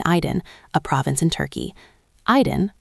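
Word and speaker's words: Aydın: Aydin, pronounced Aydin, is a region rich in history and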